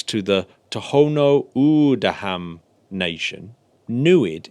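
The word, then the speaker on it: NEID: the Tohono O'odham nation newid is a pronunciation that evokes a word that roughly translates as to see in the Tohono O'odham language oh well that's perfect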